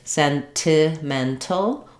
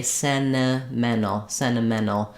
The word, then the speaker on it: sentimental: It should be out in a few weeks, but basically we can either say sentimental with true T sounds, or we sometimes will say sentimental. where we change those NTs to N sounds.